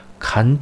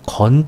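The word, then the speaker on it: 乾: 빠르다 는 뜻이 있습니다 말을 단 뜻을 가지고 있을 때는 간 짜 로 발음이 안 되고 건 짜 로 발음 됩니다 말을 건 건조하다 근데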